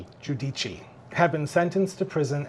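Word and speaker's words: Giudice: Giudici.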